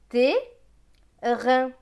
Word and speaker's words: terrain: ça, une lettre doublée, le E juste avant va se prononcer et non pas E. Donc ce sera E. T avec E qui va se prononcer et, ça donne T. R avec AIN, AIN c'est 1, donc R et 1, rein. Donc ce mot va se lire terrain, terrain.